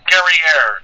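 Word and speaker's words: Guerriere: she encountered the hms gary air which you'll notice actually rhymes with the word derriere which was in fact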